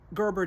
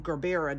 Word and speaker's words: gerbera: flowers is the um she call them gerber daisies i call them gerbera daisies because it has an a on the end not sure um pronounce